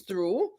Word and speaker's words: through: So you have another word that is pronounced the same way, but it's actually a preposition, which is through. For example, she went through the door. Okay. And the past tense of throw is through. They're both pronounced the same way, but the past tense is spelled THREW. Past tense of throw is THREW, but THROUGH, through, which is the preposition, is pronounced exactly the same way.